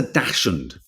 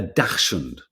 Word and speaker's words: dachshund: So who likes a dachshund? Who likes a dachshund? How do you pronounce it?